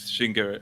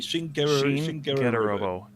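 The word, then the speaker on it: Shin Getter Robo: Shingero. How do you say it? Sorry, Shin-Getter-Robo.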